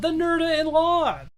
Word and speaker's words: Nerda-in-Law: It's called The Nerda-in-Law. It's Nerda, as it's spelled, in law.